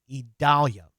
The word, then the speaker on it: Idalia: The pronunciation of that is Idalia.